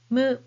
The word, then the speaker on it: む: Next, mu, mu, mu.